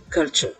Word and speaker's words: culture: Donc, prenons par exemple le mot culture. En anglais, ça va se prononcer ainsi, culture.